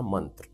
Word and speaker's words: मंत्र: तो let's come back to the point मंत्र। जिसे अंग्रेजी में मंत्रा इस तरह से प्रोनाउंस किया जाता है।